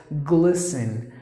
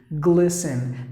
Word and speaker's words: glisten: next word is glisten that T is silent so you have to pronounce the word as glisten glisten meaning the light reflection